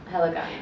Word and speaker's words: Helikon: Helicon. Okay. It's Helikon, but it's pronounced Helicon, Helicon.